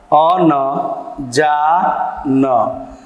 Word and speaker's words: अनजान: जैसे अनजान, अ न जा, अ न जा न। अब अनजान कह रहे हैं, लेकिन अनजान में हम अ का उच्चारण नहीं कर रहे हैं, लेकिन लिखने के समय हम तो जरूर लिख रहे हैं।